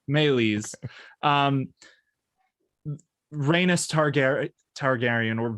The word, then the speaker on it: Meleys: up seeing um that would most likely make this melis or malaya again pronunciations we're going to have to figure all that out i've always said that melees ooh that sounds nice that sounds nicer so let's go with that melees um reynos targary targaryen